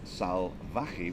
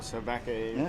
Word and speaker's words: Salvaje: And then Salvaje with the V, actually the V is pronounced a B.